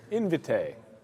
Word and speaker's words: Invitae: Oh, that's how you pronounce it. Okay, Invitae.